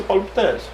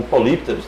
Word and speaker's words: polípteros: Esqueça polipteros. Ou polípteros, né? Como a galera fala que é a pronúncia correta.